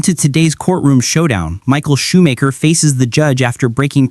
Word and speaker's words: Shoemaker: Is it Schumacher or Shoemaker? Shoemaker.